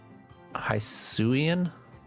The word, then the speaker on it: Hisuian: Ooh, got a Hisuian?